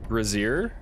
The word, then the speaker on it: brazier: single hit we're already approaching the second uh brazier which i believe is the correct pronunciation thank you to those who uh pointed